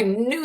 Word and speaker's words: knew: New and old, because with a silent K in the beginning, that new would mean, I knew the answer, but I forgot in the moment.